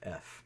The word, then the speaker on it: Trough: But Troff. Not spelled like trough is really spelled.